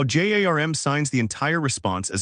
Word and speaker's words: JARM: Today we are covering JARM JWT secured authorization response mode pronounced JARM.